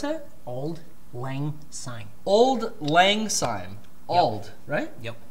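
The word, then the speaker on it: Auld Lang Syne: Is it Old Ang Syne? Is that the name of the New Year's song? Old Ang Syne. Yeah. Yeah, they play that. How do you pronounce it? Old Lang Syne.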